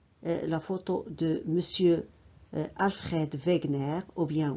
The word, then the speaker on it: Wegener: Donc voici la photo de monsieur Alfred Wegener ou bien Wegener. Wegener, c'est la prononciation d'anglais britannique. Wegener, prononciation d'anglais américaine.